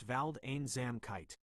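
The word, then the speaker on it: Waldeinsamkeit: It's pronounced val zam kite. Wald vald sounds like the walled in Waldorf.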